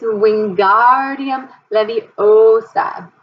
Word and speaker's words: Wingardium Leviosa: It's Wingardium Leviosa. Make the gar nice and long.